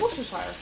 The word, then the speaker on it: Worcestershire: No one knows how to pronounce the sauce. It's Worcestershire.